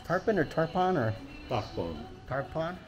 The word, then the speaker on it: Tarpon: say Tarpon Springs Tarpon or Tarpon or Tarpon Tarpon t a r p o n okay okay